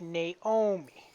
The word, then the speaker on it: Naomi: Nami, it's Naomi. Yep, Naomi is the proper pronunciation, but I Okay.